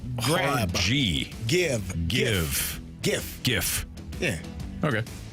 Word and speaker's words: GIF: GIF, which some people say GIF or GIF, is an acronym for graphics interchange format. So, it is a hard G.